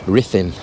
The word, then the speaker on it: Ruthin: Now, Ruthin, how do you say that? Now, my Welsh correspondent, who I'll blame for this if I'm getting it wrong, he's saying it's pronounced Ruthin or Ruthin.